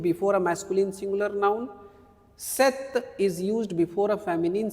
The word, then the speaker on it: cet: Now the third ce. How do you pronounce this? Set. Set. Okay.